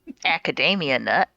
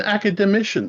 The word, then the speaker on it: academician: you're you're an acade I can never pronounce this word an academician there was an attempt all right Academia nut no an academician someone who studies a